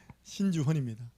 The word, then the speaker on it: 신주헌: 발음 잘하세요. 아닙니다. 신주헌입니다.